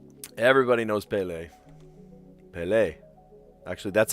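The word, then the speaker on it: Pelé: Ple was almost 18 years old apparently. Ple. Everyone in Brazil revels Ple. Just cheers for him, you know. Well, he's dead now, but everybody knows Ple. Pelle.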